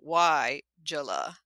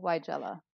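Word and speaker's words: Weigela: j u h so why jula that's how they're saying to pronounce it you're you're that that capital letter tells you that your emphasis should be on that syllable why jell-o yeah and the funny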